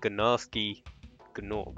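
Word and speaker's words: Gnasty Gnorc: Also, in that cutscene, I realized they actually pronounced it Ganasty Ganork.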